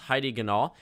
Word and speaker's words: Heidi Ganahl: On the GOP side, I believe this is pronounced Heidi Ganahl.